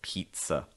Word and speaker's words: pizza: the word pizza pizza so it's not pizza it's pizza long i sound here it's again very rare